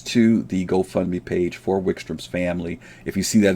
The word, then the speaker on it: Wykstrom: Wickstrom's name is spelled, Grizz is spelled WYKSTROM, Wickstrom.